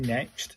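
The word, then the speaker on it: ね: This one's pronounced like the ne in nest. So, this one's four strokes.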